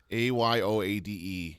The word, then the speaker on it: Ayoade: Ayoade. Richard Ayoade.